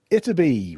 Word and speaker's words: Ytterby: of course about terbium which was named after iterby which is spelled y-t-t-e-r-b-y a chemically prolific small village in